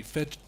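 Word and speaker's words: Fejd: was actually fade but americas could not pronounce fade which means feud in swedish yeah it has a j in there so it would be fed exactly so yeah it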